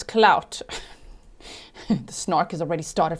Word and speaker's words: Cloud: Not Cloud, it's Clout.